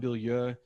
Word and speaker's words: Bilyeu: Like when I met Tom, the first time I called them Tom Bilyeu. (laughs) That's actually how you pronounce his name. 'Cause he's friends, he goes Tom Bilyeu 'cause he's American, don't understand French.